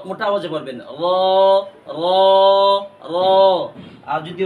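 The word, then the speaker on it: ر: সাথে এমনে লাগিয়ে দিবেন র মোটা আওয়াজে পড়বেন র র র আর যদি র এর উপরে আমরা একটা নক্তা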